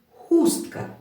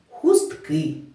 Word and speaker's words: хустка: перший голосний у хустка такий наголос стоїть на останній голосний и бо в першому випадку ми говорили слово поднині хустка а в другому ми сказали його в множині хустки і тому наголос перемістився наше заняття добігає кінця